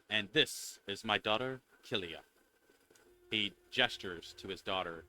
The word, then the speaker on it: Kilia: you wait uh and this is my daughter kilia he gestures to his daughter who's next to him uh it's spelled k i l i a her name